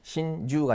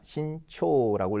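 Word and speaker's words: 慎重: 귀중하구요 또 뭐가 있습니까 신중하다 그때도 그죠 신주가 아니라 신초라고 읽으셔야 되죠 신중하다 그다음 뭡니까 누구를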